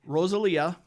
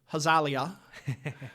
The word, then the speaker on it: Rosalia: her name wrong because I'm going to say it the way an English speaker would say it, Rosalia. I'm told that in Brazilian Portuguese that would be something like Hazalia, but I can't help it.